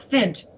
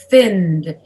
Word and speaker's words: finned: is silent by d you usually spend more time on the n so that you can get your voice into the d so you say finned